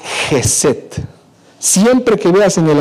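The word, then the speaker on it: חסד: En el hebreo esta palabra se escribe jeset.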